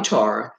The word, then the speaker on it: Tara: tomato tomato potato potato you could call me Tora but I say Tara because that's another revelation that God gave me when I was 21 years old but however when I changed my pronunciation but I still go